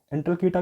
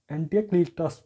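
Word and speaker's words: Antialcidas: और ये Indo Greek ruler ने भेजा था, इनका नाम था एंटीक्लाइट्स। मेरा देखो प्रोनाउंसिएशन गलत हो सकता है ना, एंटलकीटा भी बोला जाता है इनको, और एक एंटीक्लीटास भी बोला जाता है।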